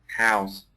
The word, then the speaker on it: house: That's right. When it's I'm not sure, but that's exactly right. When it's used as a verb, the pronunciation is a Z sound.